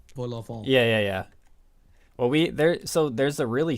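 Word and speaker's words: vol-au-vent: So I at least know that I need to get really nasally with it. Yeah, and don't say the last T. Vol au vent.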